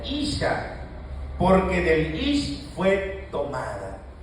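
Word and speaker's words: אִשָּׁה: Esta será llamada, en el original dice, esta será llamada Isha, así se pronuncia, Isha, porque del Ish fue tomada.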